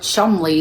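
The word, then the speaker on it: Cholmondeley: look at it, like if you actually look at the spelling, it's like you would pronounce something completely different, and it's actually, no, it's pronounced Chumley.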